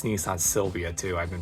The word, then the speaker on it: Sylvia: It's Nissan Sylvia, too. I've been pronouncing it wrong this whole time.